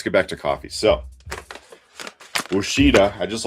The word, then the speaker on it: Ouachita: So, Ouachita. I just like saying the name Ouachita because it doesn't look like you would pronounce it that way.